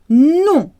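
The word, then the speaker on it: nom: is no no no the word for name sounds the same as no in french no people will often try and pronounce the m but no you don't do that so no and name sound exactly the same no the context makes clear which one you mean no no my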